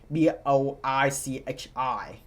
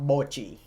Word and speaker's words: Boichi: So, um it's Boichi, not Bochi.